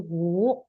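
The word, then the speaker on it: 五: U-nya tidak usah dibaca jadi wu u ya nada tiga.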